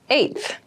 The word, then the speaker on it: eighth: on my 10th attempt eighth eighth eighth eth refers to the number eight of something the pronunciation might be a little tricky so be careful with this one I live on the